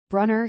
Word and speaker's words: Brunner: Robert Brunner rhymes with Sooner.